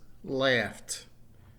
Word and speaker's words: laughed: at the second example base verb laugh ends in an F sound right so the example the past tense is laughed notice the T at the end the third verb down